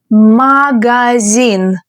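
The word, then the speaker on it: магазин: Can you pronounce it the Russian way? Magazine.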